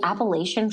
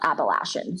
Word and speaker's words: Appalachian: ever heard of the Appalachian Trail? And some people pronounce that trail Appalachian. So potato, whatever you prefer. Mm-hmm. I pronounce it the Appalachian Trail.